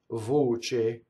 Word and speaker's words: voce: Voce, C-E again is che, and the O is closed. Voce.